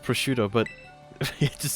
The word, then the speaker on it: prosciutto: I know it's pronounced prosciutto, but it just sounds funny to say prosquite. You ever had prosquite? It's like incredibly salty. It's disgusting. Prosquite.